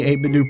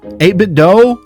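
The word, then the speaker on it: 8BitDo: Please, I beg you, pronounce the do like the end of Nintendo do 8bit do.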